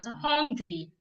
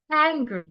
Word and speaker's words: hungry: n g are why as Nigerians we pronounce it as hungry we say I am hungry hungry is a wrong pronunciation the right pronunciation of the word is hry first the word has the H sound which must be heard because it's not silent the second letter in